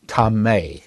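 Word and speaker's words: טמא: the Hebrew scripture uh the Hebrew word is tame if I had to transliterate it into English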